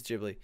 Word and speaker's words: Ghibli: handed out Shipley tively sorry jibley I don't know pronounced his name on no it is jibley ok i will mispronounce